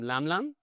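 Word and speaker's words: LMLM: Um we actually they're called LM LM LM we actually pronounce them lamblam my you know and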